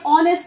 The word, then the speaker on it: honest: your mind, just like honest and are. Okay, honest and are, though they are starting with H, but they are pronouncing like H is silent over here.